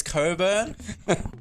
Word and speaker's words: Cockburn: those people like honestly if your name's Cockburn and you say it's Coburn I pull out a pronunciation dictionary and say hey Lee the C and K are silent here buddy you've been living a